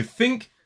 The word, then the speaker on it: think: are his shoes Okay so think has the unvoiced sound those has the voiced